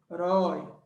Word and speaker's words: herói: para botar ela qui herói é herói Qual a sílaba forte se eu vou forte essa aqui ó oxítona E aí esse som esse som é o som the boy Oi é o som de ó eu seja deve ter assento tá então esse de